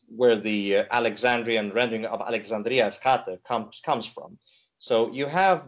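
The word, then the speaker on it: Alexandria Eschate: Yeah, it's Alexandria the furthest, which would be Alexandria Eskate.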